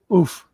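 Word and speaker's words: œuf: neuf French for egg? Oof. Yeah, Oof. it's like Oh, oof. oof. OUEF, or I don't know how to spell it, but yeah, that's a egg in France is oof.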